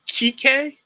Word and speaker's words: Kike: Is it Kike? Kike, yeah, Kike.